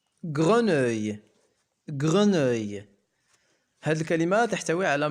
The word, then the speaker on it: grenouille: OU se prononce OU comme le mot vous. ولدينا أيضا E 2L se prononce I comme le mot taille. E لا تنطق. Je ne sais pas si c'est une grenouille ou un crapaud.